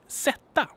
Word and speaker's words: sätta: So as you can see or hear here, these stressed syllables are always long. It doesn't matter if the vowel is long. If not, the consonant is gonna be long.